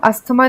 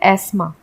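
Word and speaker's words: asthma: में क्या होता है इसे अस्थमा को हम अस्थमा नहीं बोलते हैं इंग्लिश में हम इसे बोलते हैं आसमा इसे हम हेयर नहीं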